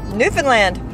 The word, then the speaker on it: Newfoundland: And they schooled us on how to say Newfoundland. And that's how you say it. Newfoundland.